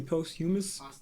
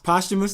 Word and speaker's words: posthumous: like like the post how do you say post humorous past humorous posthumous posthumous there we go i have no expectations